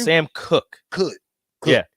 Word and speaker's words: Cook: Sam Cook. Cook. Yeah, it looks like Koch, but it's Cook.